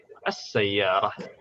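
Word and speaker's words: السيارة: Karena huruf syamsiyah, semua huruf syamsiyah, kalau ditambah al, dia ditekankan. Ditekankan. Dan tidak harus ditulis juga tidak masalah. Begini pun cukup ya, tapi bacanya tetap ditekan. As-sayyarah. As-sayyarah.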